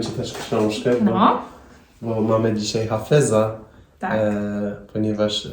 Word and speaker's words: Hafez: właśnie pana oto hafeza po polsku mówi się Hafiz ale nie podoba mi się tam ta wersja Hafiz bo dla mnie jest dziwna A hafez to jest taka jakik chyba on